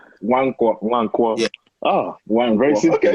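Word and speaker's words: Nwankwo: How do you say the first name? Wankwo.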